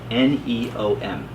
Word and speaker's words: NEOM: Neo M. Think of Neo meaning new, neo, new.